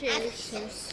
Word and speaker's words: Akershus: it's Akershus.